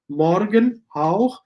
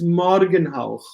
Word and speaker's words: Morgenhauch: You have two nomina put to one word, Morgenhauch, and it's Morgenhauch. So you have the stress syllable on the first, not Morgenhauch, it's Morgenhauch, only one stress syllable.